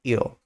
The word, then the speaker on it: ill: Cuidado com a pronúncia, ele é realmente parecido com will, que é para o futuro, que é aquele com W, mas aqui é só ill.